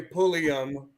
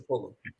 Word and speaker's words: Pullum: How often do people say Pullium versus Pullum? Every time I talk to somebody, I say Pulliam, or they Yeah.